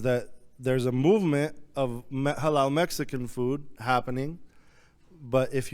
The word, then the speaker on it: Xalal: and even the term El Halal is spelled X A L A L and that's taking from the Nahwa the indigenous Mexican language where the it has the same sound as the ha in Arabic everyone name is